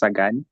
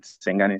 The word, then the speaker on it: Sagani: My name is pronounced as Sagani, not Sengani.